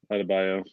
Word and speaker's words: Adebayo: Your guards in the middle, Bam, how you pronounce his last name? Adebayo.